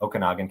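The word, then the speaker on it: Okanogan: goes all the way up to Okanagan County Okanagan County I hope I said that right someone's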